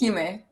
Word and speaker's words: Xime: Nobody Nobody knows how to pronounce it. It's okay. It's Heime. Heime.